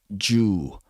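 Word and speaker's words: 銃: But gun in Japanese is pronounced Ju. So I think the idea here is that if you pronounce Jiyu really fast, it sounds like Ju.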